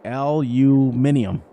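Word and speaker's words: aluminium: for a year um aluminum that's how I pronounce it we say Lu minium that's different I say aluminum yeah you guys say aluminum well like I said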